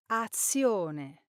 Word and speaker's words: azione: Now, the correct pronunciation is... Azione.